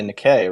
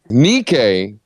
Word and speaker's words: Nikkei: U.S investor you can't just go buy the Decay right um how do you say that probably how are you saying that then the K didn't Decay how do you guys say Okay Nikkei the Nikkei okay um but yeah you go